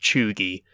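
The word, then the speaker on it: cheugy: e u g y according to wikipedia it's pronounced choogie it's it's like a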